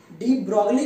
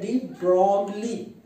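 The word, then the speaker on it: Broglie: डी ब्रोगली नहीं बोला जाता है, बोला जाता है डी ब्रोगली, ओ को थोड़ा खींचा जाता है।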